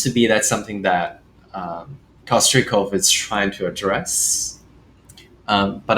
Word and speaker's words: Kostrikov: Kostrikov. Kostrikov. Okay. Yeah, it's Russian. Did you just guess, or is that actually how it is being pronounced? Yes, it's actually Kostrikov in Russian.